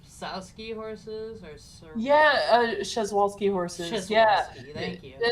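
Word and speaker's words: Przewalski: It almost looks like I'm gonna butcher the name. Sowski horses or Yeah, Shezwalski horses.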